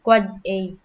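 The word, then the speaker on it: AAAA: server a a and n divides ipv6 address pronounce quad a MxA email change record so the it can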